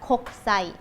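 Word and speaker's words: 国際: สังเกต ดู นะ คะ ตัว อักษร เขา จะ ใช้ โคก คึ ซะ อิ แต่ เวลา อ่าน ออก เสียง ให้ เป็น ธรรมชาติ โคะ คึ ซะ อิ จะ อ่าน โคก ไซ ก็ เหมือน พูด เร็ว ๆ อ่ะ เนาะ ใช่ ค่ะ ตัว คุ จะ ไม่ ได้ ออก เสียง เต็ม ๆ นะ คะ คก ไส้ อ่า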